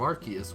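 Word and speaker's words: Arceus: and I also like how they confirmed the pronunciation of Archus with its ability RKS system. Clearly Sylvvey is a non-leendary version of Archus and if it was RCS then they'd call it the RCS system.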